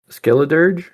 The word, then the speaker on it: Skeledirge: Skeledirge?